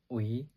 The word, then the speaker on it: ui: It has two pronunciations, and the meaning will change depending on how you sound and how you pronounce the word. So first, let's learn the pronunciation. UI, we, it means dog, a dog.